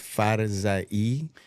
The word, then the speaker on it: Farzaie: It's actually pronounced Farzaie, Oh, my God.